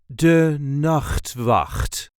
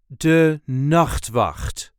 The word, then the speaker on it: De Nachtwacht: De Nachtwacht. There is a light emphasis on the first syllable of the second word. De Nachtwacht. De Nachtwacht. De Nachtwacht.